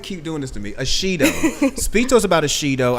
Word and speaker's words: Ashido: Am I saying it correctly? Ashido, yeah.